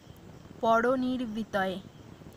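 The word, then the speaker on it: परनिर्वृतये: তো এটা আমাদের ভালো করে মনে রাখতে হবে যে এখানে একটা তয় হবে, তয় তয় হবে না। তো এটা ঠিক করে নেবেন সবাই। পরনির্বিতয়ে উচ্চারণটা এরকম হবে।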